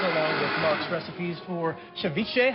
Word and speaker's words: ceviche: And we posted all those details along with Mark's recipes for ceviche.